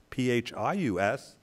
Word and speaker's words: PHIUS: We say PHIUS, but you know what? It works either way. It could be PHIUS.